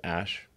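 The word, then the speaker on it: Æ: letter X and then the AE is like pronounced ash yeah and then a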